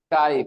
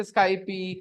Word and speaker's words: Skype: conversation guys on SK Skype they're having this conversation on Skype so all of you guys whoever pronounced it a Skypey correct it today it's not Skypey it's a Skype no sir we all